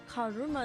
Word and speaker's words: Karuma: Karuma. Karma. Is it like that? Yeah. Karuma is the Japanese last name of the Von Karmas. Wow. Oh. Wow. Because karma is literally a Japanese pronunciation of karma.